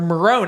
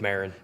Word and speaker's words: Maron: And then you have Mark Maron, or Marone. I don't even know how to say his name. I see him everywhere. I think it's Maron. Maron, yeah, Mark Maron. That's what I thought.